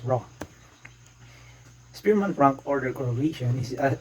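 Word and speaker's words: ρ: s or that we letter p or pronounced as raw spearman rank order correlation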